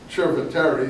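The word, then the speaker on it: Chieti: like that uh anyway C in Italian is Chip it's not s in case you are wondering why you say chip uh in Chet or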